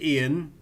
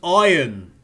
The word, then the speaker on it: Ian: but for some reason Ubisoft decided that Ian isn't pronounced Ian. It's pronounced iron, which we don't understand how nobody's mentioned this to them in the whole process of making this thing, that nobody at Ubisoft has actually turned around and go, that's not actually how that name's pronounced, And it's especially amusing